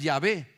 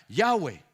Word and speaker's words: Yahweh: Entonces, o algunos dicen, no es Yahvé, o en inglés se pronuncia Yahweh.